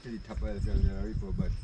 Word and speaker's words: Cerro del Aripo: So the proper pronunciation is Cerro Del Aripo.